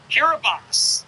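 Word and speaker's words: Kiribati: The Republic of Curabati is a three-hour flight just south of Hawaii, exactly 24 hours ahead. That's crazy. Kiraabas is actually how it's pronounced.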